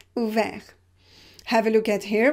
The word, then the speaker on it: ouvert: You have the consonant just after r, so you pronounce it e, ouvert.